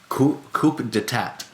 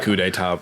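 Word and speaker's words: coup d'état: so who could it not coop detect come on yeah I definitely said it like that for way too long before ever hearing someone say it out loud um I heard a coup d'etat pronounced and I was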